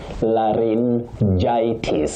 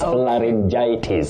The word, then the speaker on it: laryngitis: So, this word you say laryngitis. Laryn- then gitis, laryngitis. So, it's tricky and certain words in English can be tricky for anyone anywhere on earth. So, please, the way to pronounce that word is laryngitis.